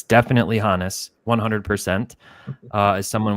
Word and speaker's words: Honus: As someone with German heritage and a German exchange student in high school named Johannes, it's definitely Honus. In fact, I ran an Instagram poll last year asking people how they pronounce it, and I think it was a 65-35 say Honus. But it is definitely Honus.